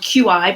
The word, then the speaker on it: qi: It's spelled QI, but it's pronounced qi, which is just the energy in the body.